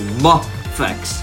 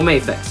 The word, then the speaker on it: MAFEX: same effects it is the closest thing to mop flex which is the actual pronunciation guys no mapex here and the Japanese language anyhoo let's get to